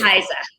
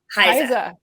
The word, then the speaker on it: HISA: Is there an official way of pronouncing the acronym for it? It is HISA. HISA.